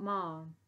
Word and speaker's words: ma'am: "Ma'am, not ma'am. It rhymes with ham or jam."